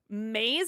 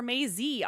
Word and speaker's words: Maze: you have trouble pronouncing my name it's maze is it okay Maze or Maisy on scene I think it's maze maze on scene great